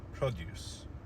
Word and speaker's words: produce: Notice how in the verb the stress was on the second syllable, to produce something. However, when we created or when we coined the noun, or when we formed the noun, then we shifted the stress to the first syllable in order for it to become produce.